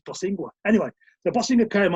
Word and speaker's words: Bosingwa: boss winger his boss say his name correctly says bosingwa anyway the bossing of